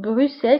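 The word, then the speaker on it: Bruxelles: فهنا انتبهوا بروسل كتكتب إكس ولكن كنطقوها بإس بروسل بروكسل بالفرنسية بروسل.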